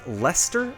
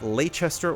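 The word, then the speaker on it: Leicester: also shared scenes with each other and it's pronounced lester not lachester or lychester i think england right yeah it's one of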